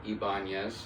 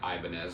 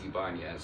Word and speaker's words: Ibanez: Ibanez, excuse me. I know people called me out last time for saying it Ibanez, and people said, no, it's Ibanez, so sorry.